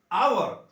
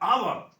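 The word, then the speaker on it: hour: क्या हो रहा है, आवर, ओ आ रहा है ना, आवर, तो आवर से स्टार्ट हो रहा है, इसका उच्चारण ओ से शुरू हो रहा है, इसके लिए पहले हम इसका एन लगा देंगे।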